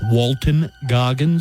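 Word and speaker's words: Walton Goggins: Walter Goggins in uh there's no actor known as Walter Goggins it's Walton goggin if you're going to invoke his name say it correctly you love him so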